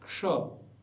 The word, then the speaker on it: क्ष: ठीक ठीक बोलना है क्ष क्ष उदाहरण के लिए बोल लीजिए आधा क और पूरा ष क्योंकि श में अ है इसलिए पूरा ष दोनों को मिलकर के बन गया क्ष इसी को हम उदाहरण